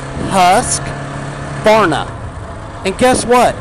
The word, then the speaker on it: Husqvarna: pulley for God's sake pronounce the name right it is not Husqvarna with an a its husk corn up and guess what it's